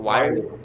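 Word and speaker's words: Whyle: Wiley. Shout out He's Josh actually a Wiley. good player. Josh Wiley's actually a good player. I shouldn't hate too much. He's a good blocker. Shout out Josh Wiley.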